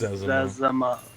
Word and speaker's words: Zezima: Is it Zezima or is it Zima or how is it pronounced? Zezima.